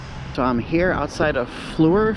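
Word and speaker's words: Fluor: i'm here outside of fleur field f-l-u-o-r i guess that's how you pronounce it the reason why i'm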